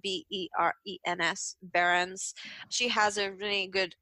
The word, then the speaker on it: Behrens: That's spelled B-E-R-E-N-S, Behrens.